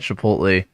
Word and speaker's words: Chipotle: the ultimate hack at Chipotle. All right, wait. You notice how we pronounced that last syllable in Chipotle? He's like Chipotle. Chipotle. He's like yeah. All right, it's got that weird thing.